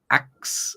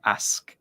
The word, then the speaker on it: ask: pronounced incorrectly and then you said ax instead of ask so you got those the SK sounds the wrong way around those are very small